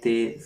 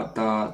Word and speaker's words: ت: کے مطابق عربی لہجہ میں ادا کریں، اردو تلفظ سے پرہیز کریں، یعنی بے، تے، سے، ح، خ، توئیں، زوئیں وغیرہ ہرگز نہ پڑھیں، بلکہ با، تا، ثا، ح، خ، طوا، ظا وغیرہ ایسے ہم